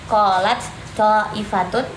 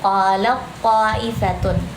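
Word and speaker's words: قالت طائفة: Jadi, jadi kalau idgham itu kan mm meleburkan huruf yang pertama. Jadinya kita lebih bacanya seperti yang si tho ini huruf yang kedua. Jadi qolat thifatun. Jadi bukan qolat qolat thifatun tapi qat thifatun.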